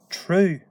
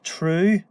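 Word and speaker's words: tnúth: Rather than using the word dul, we've got this word true. True. And this N here is pronounced like an R.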